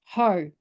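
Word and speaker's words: Hau: But I guess with my family name is H-A-U, which has always been pronounced Ho, the Māori name.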